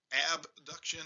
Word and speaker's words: abduction: So this, starting at the last part, this is what they use for abduction and adduction, and my southernese kind of gets in the way, so I mispronounce it. Abduction versus adduction.